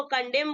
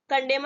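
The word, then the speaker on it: condemn: और दी आई एम एन ठीक है इसको कॉन्डम बोलेंगे कंडम नहीं बोलेंगे ठीक है इसको प्रनंसीएशन करेक्ट प्रनंसीएशन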